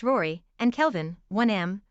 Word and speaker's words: Rorai: Baraline, 4F, pronounced Bryalyn, Falcon, 3M, pronounced Falcon, Rorai, 3F, pronounced Rory, and Kelvin, 1M, pronounced Calvin.